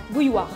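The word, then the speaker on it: bouilloire: Bouilloir. Bouloir. No, bouy. What did you say? So in French we say bouilloir, and that's a kettle.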